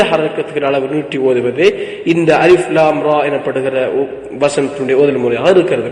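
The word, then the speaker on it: الر: மூன்று எழுத்துக்களை கொண்டமைந்த வசனங்களின் இரண்டாவது அமைப்பை பார்ப்போம் இதிலே அலிஃப் லாம் ரா எனப்படுகிற வசனம் இருக்கிறது இங்கே நாங்கள் அலிஃப் என்பதை உச்சரித்து மூச்சை விட்டுவிடாது அலிஃப் என்று நாங்கள் உச்சரித்ததன் பின்னால்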